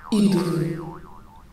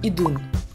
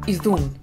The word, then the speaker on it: Idunn: Idunn. Air of talking. As you might have noticed, my name should be pronounced Idunn. Or Idunn. But not Idunn, Idunn, I don't know, as many of you thought.